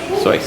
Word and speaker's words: Seuss: but was it pronounced seuss how is it pronounced slice soy ah and people used to call him seuss